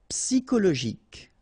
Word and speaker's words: psychologique: Okay, so ic, and then Y is pronounced like I. Psy. And then it's an exception here because normally we should pronounce it sho, okay, but then we pronounce it ko.